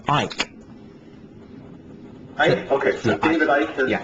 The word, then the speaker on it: Icke: Does he pronounce it Icke or Ike? It's Ike.